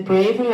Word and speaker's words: bravery: or at the end, see the or at the end, that's not clear enough for me. Bravery. So don't do what the English do. Pronounce it like what Americans do or Irish people do. It makes it easier to understand.